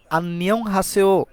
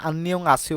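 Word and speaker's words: 안녕하세요: অস্তিত্ব থাকে না তো আন্নিয়ং হাসিও এটা হওয়ার কথা কিন্তু কোরিয়ানরা না এটাকে হাসিও বলে থাকে ডিফারেন্ট উচ্চারণ করে থাকে তাহলে আন্নিয়ং হাসিও কেমন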